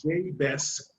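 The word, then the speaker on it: Jay Bess: so please welcome to the show today mr j best now am i pronouncing it right perfect okay now how do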